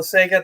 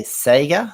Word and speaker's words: Sega: then i even like the way you americans say would you say sega is that right sega yeah sega yeah growing up as a kid in australia we said sega completely different pronunciation of the same thing it was the sega and